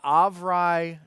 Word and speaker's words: Avrai: deal to bring the Avrai Discord bot. That is how you say it, by the way.